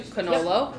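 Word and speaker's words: cannolo: tiramisu and their cannolis fun fact cannoli in italian means two canola means one yep well i am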